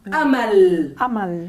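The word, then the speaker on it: أمل: Mirad esta palabra, A, Ma, porque Hamza con Fatha, A, Mim con Fatha, Ma, y luego Lam, Amal. Esto lo pronunciamos muy fácilmente. Amal.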